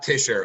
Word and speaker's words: Tischer: sorry fisher t-shirt yeah it's it's pronounced like t-i-s-h okay tischer who's like you know